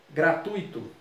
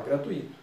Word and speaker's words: gratuito: Então, fluido, fortuito, gratuito. Não é gratuito. No português informal, muita gente fala gratuito. No português formal, nem tem acento. Gratuito. O U você pronuncia mais forte.